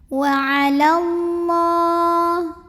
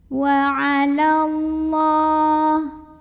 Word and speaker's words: وعلى الله: Wa 'alallah, lam jalalah dibaca secara tafkhim karena huruf sebelumnya berbaris fathah, maka bacanya tebal, pangkal lidah diangkat. Wa 'alallah, alif lamnya namanya alif